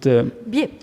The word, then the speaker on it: Biais: but still very interesting, and that it's Bruno Bias is the, how you pronounce it? Biais.